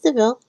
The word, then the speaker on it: DeVille: No, it's DeVille.